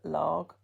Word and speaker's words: Lugh: Sometimes that sun god is pronounced as Lag, Lugh.